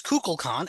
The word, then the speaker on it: Kukulkan: well, they can, and it is Kukulkan, and everyone else but Shatner calls it Kukulkan There's someone else.